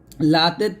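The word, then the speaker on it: لا: কালিমা তাইয়েবা লা ইলাহা এখানে লাতে তিন আলিফ পরিমাণ টান দিবেন লা এরকম আমরা অনেকে টান দেই না টান গুলো ভুল করি এই টান গুলো ভুল করা যাবে না টান দিবেন সুন্দর করে লা ইলাহা আবার বলেন লা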